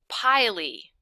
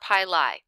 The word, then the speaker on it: pili: It should be pili or pili. Pili or pili. That's how you say it.